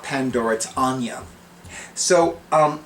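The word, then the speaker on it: Áine: as aini uh but i like to pronounce it anya anya is a goddess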